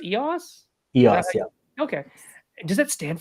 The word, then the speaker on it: EOS: find EOS project EOS rise EOS is it pronounced EOS EOS yeah okay does that stand for something num